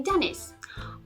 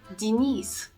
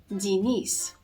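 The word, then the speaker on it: Денис: the name Dennis and therefore you automatically say Dennis but in Russian language the stress goes on the eye letter of the second syllable and therefore the air letter yam is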